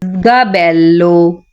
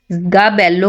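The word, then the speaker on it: sgabello: गाबेल्लो, गाबेल्लो कहते हैं स्टूल को। ये एस से स्टार्ट हो रहा है लेकिन ये आवाज जी की देगा, यानी जे की आवाज देगा। गाबेल्लो, गाबेल्लो स्टूल।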